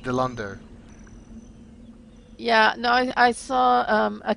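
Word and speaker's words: Dilandau: and she kept saying Delanadu or something like that. Groot. Groot. You know, that's Groot. I saw it's a Dilando. character. The name is pronounced Dilando.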